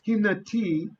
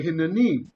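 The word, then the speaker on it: הִנֵּנִי: Oftentimes in Hebrew, we will insert a noon to make the word more pronounceable, right? And so in this case, you do have hine, but you're right. Instead of saying hinati, we say hinani, right?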